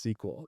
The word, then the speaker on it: SQL: Also, you were, reacting strongly because I said the acronym SQL is pronounced sequel.